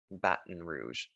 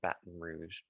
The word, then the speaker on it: Baton Rouge: Baton Rouge. I know we would say it differently here and in French, but they call it Baton Rouge.